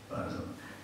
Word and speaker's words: Basel: Basel.